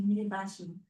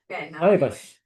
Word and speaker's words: Maebashi: My son is in Mibashi. Mibashi, Gunma. Mibashi. Ibayashi. I don't know how to pronounce it. Yeah. Mibashi. What? Maebashi. Maebashi is, yes.